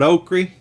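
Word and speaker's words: okrie: case you don't know okri is okra but down here we call it oaky that's o-k-r-i-e is how you spell that and so anyway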